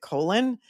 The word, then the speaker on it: Colin: Colen Powell I guess spells his name C O L I N but pronounces it Colon.